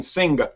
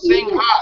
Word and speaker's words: Singha: you look it up it says do not pronounce the ha but if you listen to the people say it they actually say it so I think it's